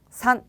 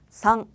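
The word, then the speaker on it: さん: 그리고 3은요. 그냥 산 이렇게 하는 게 아니라요. 상, 상, 상.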